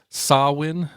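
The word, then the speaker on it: Samhain: He's actually known as Sawin, or Sam Hine is how it's spelled, which is basically the terminology for Halloween.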